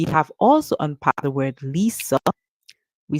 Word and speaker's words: Lisa: can hear it as Lisa because the S can be pronounced as Z seeing that it comes after an i okay but the most common pronunciation or popular pronunciation is Lisa okay we have already